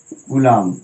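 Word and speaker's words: coulomb: Okay student, यहाँ पर बी क्या होता है, साइलेंट होता है। बी क्या होता है जी, साइलेंट।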